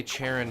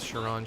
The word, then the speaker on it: Charon: I want to say Charon, but that's not how you pronounce his name, so we're going to go with Sharon.